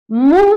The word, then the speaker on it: मुंह: लेकिन जहां उच्चारण में न नहीं आए, मुंह से ध्वनि न निकले, बल्कि उसके जगह नाक से ध्वनि निकले।